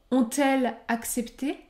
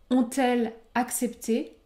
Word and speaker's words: ont-elles accepté: on essayé ou encore ont-elles accepté ont-elles accepté je ne prononce pas le S je ne fais pas la liaison ont-elle accepté la liaison